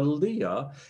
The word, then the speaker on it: Lea: The pronunciation is Lea. I've made that second error today, Lea.